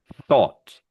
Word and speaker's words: thought: So If it has a T here, this sound stays the same because at the front it's still an H. The only difference is you end it with a T.